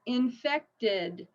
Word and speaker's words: infected: And the same thing with infected. So it's the T sound, okay?